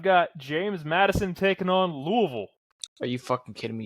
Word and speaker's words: Louisville: So I've got James Madison taking on Louisville.